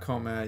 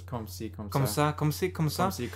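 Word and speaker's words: comme ci: correct uh c no it's not comad you don't say that e it says come see there's even a little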